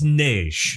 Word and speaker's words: Neige: It's Neige. Neige. It rhymes with beige.